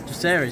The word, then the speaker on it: Jacaerys: So Talking to Harry, playing Jacaerys. Am I saying it right? Jacaerys, yeah.